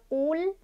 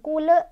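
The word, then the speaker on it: قل: Di sini ada kul, lam sukun atau lam mutlak ya, biasa disebut lam mutlak. Ini bacanya jangan mantul. Kul, kul, nggak boleh mantul ya. Jangan kule, jangan juga ditahan kul, jangan ya.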